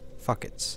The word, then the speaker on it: fuckets: the case of the fuckets. I got the fuckets. If you couldn't hear that pronunciation, it's Fuck-its. Fuckets.